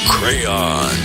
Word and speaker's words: crayon: I'm a pronunciator, and it's Crayon.